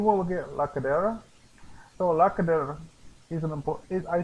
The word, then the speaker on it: cadera: But when it comes to Spanish, cadera, the ER is important because that is an indicator of when you need to roll your R.